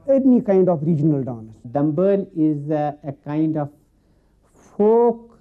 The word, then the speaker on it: Dhambaali: And here in Kashmir, we pronounce it as Dhambaali.